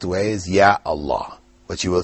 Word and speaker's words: Ya Allah: or particle yeah before Allah you still say yeah Allah you don't say yala people might mispronounce and say that but the correct way is Ya Allah which you will say so this is a